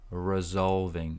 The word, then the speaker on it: resolving: here just on resolving resolving this is z so right here on the right this is how you say it roling resolving resolving the ticket resolving